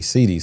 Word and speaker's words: Cede: A lot of people pronounce it as Cede. Yeah, it is actually Cede.